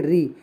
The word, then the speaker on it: ऋ: लीजिएगा लिखा हुआ है ऋ का वर्तमान उच्चारण जो है वो आधा र प्लस छोटी ई होने लगा है ऋ होने लगा है ठीक